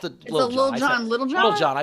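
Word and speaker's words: Lil Jon: It's a Little John, but no, it's Lil John.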